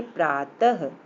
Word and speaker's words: प्रातः: इसमें यहाँ पर है, इसका उच्चारण ह की तरह होता है, जैसे प्रातः, प्र पे आ की मात्रा, त और फिर विसर्ग लगा हुआ है, तो पढ़ेंगे प्रातः, अतः आदि, है ना बच्चों।